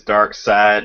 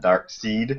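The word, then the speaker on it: Darkseid: pretty cool deal dirt reminds me that it's dark side not not dark seed I was we're being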